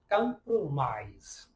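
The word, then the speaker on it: compromise: लेकिन यहाँ इसका साउंड याद रखिएगा, इसका साउंड Z की तरह होगा। फॉर एग्जाम्पल, एक वर्ड है कंप्रोमाइज। सो ISE आ रहा है, लेकिन इसकी प्रोनाउंसिएशन होगी ISE के, हम प्रोनाउंसिएशन पढ़ेंगे कंप्रोमाइज्ड।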